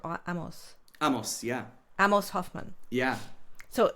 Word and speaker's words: Amos: Now, one of your frequent collaborators, and I want to pronounce his name correctly, he said Amos. Amos, yeah.